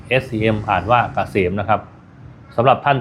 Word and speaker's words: เกษม: Sign นำ หน้า นะ K SCM อ่าน ว่า เกษม นะ ครับ สำหรับ ท่าน ที่ เดิน ทาง ด้วย